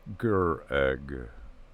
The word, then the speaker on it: Craig: that we met was craig pronounced ger egg the warriors were already